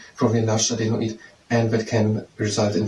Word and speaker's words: adenoid: It's an adenoid. Not an Adonis, so an adenoid.